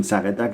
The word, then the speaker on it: Saugatuck: How do you pronounce the name of this place again? Saugatuck? Hello from Saugatuck in Michigan.